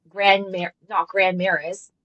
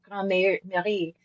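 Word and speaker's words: Grand Marais: It's not Ouellette, it's Olette. It's not Grand Maris, it's Grand Marie.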